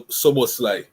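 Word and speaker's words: Szoboszlai: So how you pronounce his name? So Soboslai.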